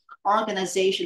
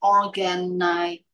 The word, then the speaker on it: organization: careful with your pronunciation organization is not like organitation okay you always make